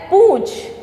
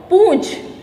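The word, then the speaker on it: पूँछ: हुआ, नाक में बोला, लेकिन जब हम अनुनासिक का प्रयोग करते हैं तो हमारे नाक और मुंह से क्या निकलती, हवा निकलती है, और कैसे उसका उच्चारण होता है, पूंछ। ठीक है, तो जैसे कि ये हटा दिया तो क्या हो गया, ये पूंछ, लेकिन चंद्र बिंदु लगाया तो पूंछ।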